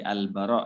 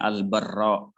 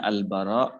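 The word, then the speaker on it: البراء: Jadi Al-Bara ya, tanpa tasydid ra-nya, bukan Al-Barra, bukan. Jadi bacanya Al-Bara ibnu Azib.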